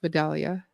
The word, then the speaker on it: Vidalia: I think it's pronounced Vidalia.